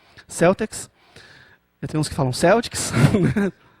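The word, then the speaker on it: Celtx: né é sempre uma dúvida em relação essa pronúncia Celtics Temos que falar um Celtics E aí é gratuito O Celtics você consegue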